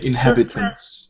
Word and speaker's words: inhabitants: Yeah, inhabitants. Yes, on second syllable. Yeah, good. Yeah, slight difference in the stress. The syllable is actually the other one.